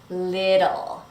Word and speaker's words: little: one is the word little. Little. So notice in American English that those T's are going to sound like a fast D.